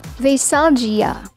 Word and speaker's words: Veisalgia: People usually pronounce this word as Veisalgia, but you need to prolong the G sound and say it as Veisalgia.